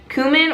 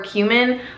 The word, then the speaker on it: cumin: So my next favorite would have to be cumin or cumin. I think you can pronounce it either way, I'm pretty sure.